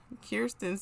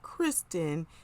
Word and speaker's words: Kirsten: Also at the reception, Kirsten's sister, or I think that's her sister, Jasmine, she's like, you need to say her name. It's not Kristen, it's Kirsten or Kirsten.